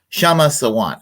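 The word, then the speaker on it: Kshama Sawant: Back uh because uh shama sawant I'm now knowing how to not say her name without pronouncing the the K in front of there K is silent so uh so let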